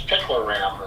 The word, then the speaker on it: picloram: That's the There is concern that I have from using it's picloram is how it's pronounced, and that's Oh, thank you.